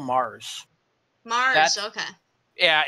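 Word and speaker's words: Magrs: Oh, actually, I think Nick Briggs pronounces his name as Paul Mars.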